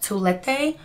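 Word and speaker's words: toilette: a perfume and a toulette or it's actually pronounced like toilet in english which is hideous um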